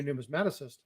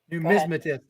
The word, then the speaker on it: numismatist: But a lot of my videos actually target not just the new numismaticist, but numismaticist. Numismaticist. Numismaticist. Numismatist. There you go. I always say it wrong.